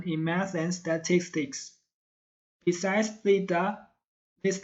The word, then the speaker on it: theta: It should be theta, with your tongue between the teeth. And please puff less air when saying the syllable ta. It should be da, not ta.